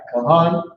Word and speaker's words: Kahan: All right, Kahan means priest.